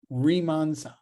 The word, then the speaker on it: Riemann: you pronounce it I Riemann is IE and you pronounce e you're pronouncing that e there Riemann and a Riemann sum